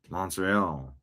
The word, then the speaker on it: Montreal: How do you pronounce Montreal? Like a Frenchman. Montreal.